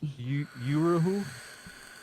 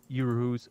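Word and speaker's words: Uhuru: Can you pronounce it again, or what was this question? Yeah. Uruhu, U-H-U-R-U.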